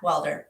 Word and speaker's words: Welder: beautiful guest welder do i do i say it correctly yeah welder yeah yes like that like yes the transformation